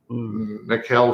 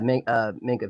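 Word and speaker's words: Minkah: Landon Collins, Mikael Fitzpatrick. Oh boy. Okay. Did I say his name right? Yeah. Minka Fitzpatrick.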